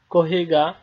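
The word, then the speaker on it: コーヒー: একটা বিদেশী শব্দ সরি এটা সাধারণত ইংলিশে উচ্চারণ করলে হবে কফি এবং জাপানিজা জাপানিজরা যখন উচ্চারণ করে তখন সেটাকে কহি উচ্চারণ করে তো কহি হলো একটা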